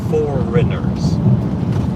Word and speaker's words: foreigners: Famously, in the word for, estrangeiros is foreigners. And there's a GH right in the middle of the word foreigners for no reason.